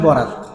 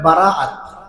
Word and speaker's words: বারাআত: আমরা আমাদের দেশের মধ্যে এই রাতটাকে বলি শবে বরাত। সব শব্দটা হলো ফার্সি, আর বরাত যে বলে উচ্চারণটা আসলে সঠিক না, উচ্চারণ হলো বারাআত। বারাআত শব্দের অর্থ হলো মুক্তি। আমরা বলি শবে বরাত, এই উচ্চারণটা ভুল।